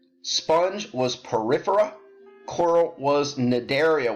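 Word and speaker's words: Cnidaria: was Porifera coral was nidaria with a silent c c and i dar IA so that's the end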